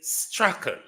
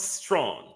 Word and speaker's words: Strachan: This, his name that comes from the British descendant, it is Strachan. Strachan. Strachan, not Strawn.